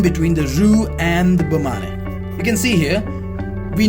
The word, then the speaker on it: bain-marie: This is again a French word. So this is the pronunciation, which is Bain-Marie.